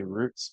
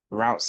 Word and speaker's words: routes: our routes okay now if you're from the UK like me I actually say Roots but routes is the pronunciation that is American and what we use most of the time so you hear me say routes if you call it Roots it's the same thing all right so it